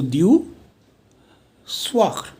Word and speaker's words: du soir: One is du soir. अब ज़रूरी नहीं है मैं इसको ख बोलूँ, आप र भी बोल दो, that's perfectly fine. Okay, सो du soir.